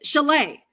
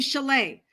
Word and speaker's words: Chalet: Oh, here, but it's not. It's Chalet. You pronounce her name Chalet.